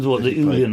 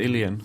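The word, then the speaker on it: uilleann: the Ulian or whatever it is, something like that. Ilian? I think it's a little closer to Ilian.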